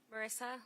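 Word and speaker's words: Marisa: Marissa. and it's spelled M A R I S A.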